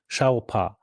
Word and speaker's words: Xpeng: VW is not partnering with, and you have a great pronunciation. I need to learn that. How do you say Xpeng? Xiaopa.